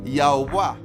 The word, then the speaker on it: Yahuwah: el nombre de Yahuwah, que se pronuncia algo así como Yahuwah.